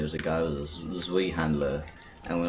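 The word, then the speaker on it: Zweihänder: a guy with a Zwei handler, and we're like, yeah, we're Zwei handler. Down. You keep saying it, Zwei. I'm sorry, I don't know how to pronounce anything. It's Zwei, it's German.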